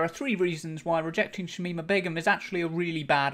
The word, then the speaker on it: Shamima Begum: criticizing Shamima Begum particularly people who can't pronounce Shamima Begum correctly tsamina bedrooms I mean a bedroom shamina become lovely British nation we should mean a big room and who constantly seemed